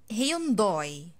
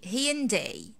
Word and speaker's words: Hyundai: that you are mispronouncing you probably say hyundoi right this dui this is like the mere beautiful egyptian accent so how can i say this brand in english i say hey ian day hey in day hain